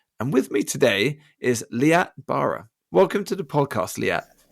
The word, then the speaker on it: Liat Barer: host Joe burage and with me today is leat Bara welcome to the podcast leat you doubt you pronounced it perfectly yeah I won I was